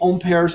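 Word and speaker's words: Ampère: which we found by using own pairs law according to and of course we always say amperes law but especially because certain students giving me grief or mispronouncing french words trying to say it right okay the magnetic field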